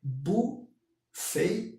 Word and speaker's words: Bu Fei: mencionei chinesa, que é Bu Fei, Bu na verdade é com B, mas pronuncia P, Bu Fei, A Chao Tang, ok?